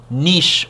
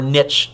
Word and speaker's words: niche: own what we call niche or niche depending on how you want to pronounce it that's the way in